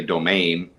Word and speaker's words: Domingue: So without further ado, Domingue, am I pronouncing it, or is it Domingue? Actually, that's more perfect than most. Yes, because even in my family, we've dropped the G at the end, but actually you are supposed to pronounce the G.